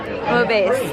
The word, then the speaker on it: bouillabaisse: How do you pronounce that? Bouillabaisse.